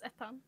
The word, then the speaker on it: Etan: Eton, is that how you pronounce it? No, it's Etan.